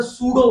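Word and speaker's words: pseudo: तो current is नॉट a vector, it's अ सूडो vector. सूडो, सूडो spelling P silent है, सूडो vector.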